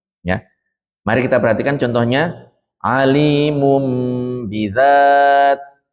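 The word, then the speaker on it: عليم بذات: Alimum bidzat, alimum bidzat. Di sini bukan alimun bidzat tapi alimum, ya.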